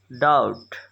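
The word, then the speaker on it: doubt: describe describe यकीन करना believe शक करना डाउट यहां पर बी साइलेंट है वादा करना प्रॉमिस प्रॉमिस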